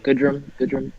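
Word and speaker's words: Goodrum: is somewhat relevant in 12 teams but Nico gudren I'm said how you pronounce it okay it's pretty yeah good room he's eligible at pretty much every single position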